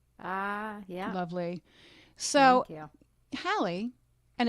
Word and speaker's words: Halley: be called Haley that I'm like, okay, I'll take it. Yeah, you pronounce it right. Right. So Hallie, and you grew up in what town in Maine?